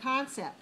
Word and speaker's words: concept: Now, number 5 has the word concept, and we see in the entry word it's C-O-N dot C-E-P-T.